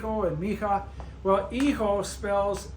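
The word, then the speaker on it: hijo: M and mha well eho spells h i Jo o and me is MI I we know the H is silent so if you take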